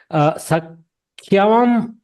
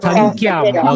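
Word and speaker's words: संख्यम्: Sakhyam anatikramya. Sankyam. Okay, my pronunciation was wrong. The dot is missing in my pronunciation.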